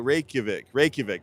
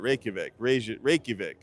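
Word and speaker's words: Reykjavík: Reykjavik. That's it. Reykjavik.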